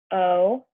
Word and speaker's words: one: Okay, so this is how you spell it, but it kind of sounds like it would be spelled one. It sounds like one, but it's spelled O-N-E, one.